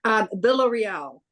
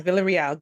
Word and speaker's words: Villarreal: Is it Villarreal? I'm messing it up. Okay. Villarreal. That's Villarreal. Okay. The English way to say it. Okay, Villarreal.